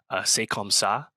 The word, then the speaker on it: C'est comme ça: I think was it make sure I pronounce this one right. C'est comme ça, track four.